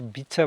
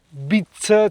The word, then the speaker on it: beach: Attenti sempre a pronunciare Bach perché Bit, cioè B i T c h vuol dire cagna.